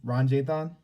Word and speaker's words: Ranjithan: time today i don't want to get your name wrong doctor uh ron jay-thon yeah that's right that's right yeah everybody here